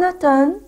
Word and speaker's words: automne: En automne, on ne prononce pas le M. ما بقولهاش automne. D'accord? On dit en automne.